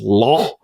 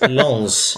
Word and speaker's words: Lens: Yeah, I was going to say, don't forget the S on the ends. It's Lens.